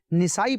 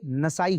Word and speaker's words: نسائی: مدنی channel کے ناظرین، بعض لوگ اس لفظ کو نسائی پڑھتے ہیں، امام نسائی، تو علماء کرام نے یہاں ذکر کیا کہ اس کا درست تلفظ اور اعراب یہ ہے کہ نون اور سین دونوں پر زبر آئے گا، تو نسائی نہیں ہوتا بلکہ نسائی ہوتا ہے۔ تو اس امام کا